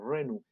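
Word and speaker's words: renü: Reni, se escribe con R-E-N con U cremillas, como Renu. Algunos lo hacen con I nomás, pero bueno, ahí no, cosa ya de lingüista.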